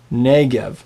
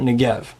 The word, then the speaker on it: Negev: It's erev Shabbat, not erev Shabbat, and it's Negev, not Negev.